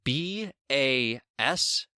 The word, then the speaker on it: base: too let me explain b a s e is pronounced as Bass But B is sometimes pronounced